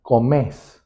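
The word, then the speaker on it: comés: una forma extremadamente simple tienen que tomar el infinitivo del verbo cambiar la r final por una s y pronunciar la palabra con acento en la última vocal por ej ejemplo estudiar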